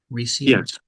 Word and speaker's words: Recio: the Deep honor today to speak to Roy reio am I pronouncing your last name right reio yes yeah so Roy uh is the founder